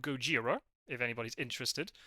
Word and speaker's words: Gojira: the band is called Gojira if anybody's interested oh Godzilla there you go well yes that's the one I've seen that movie Goa yeah that's literally the Japanese pronunciation there you go so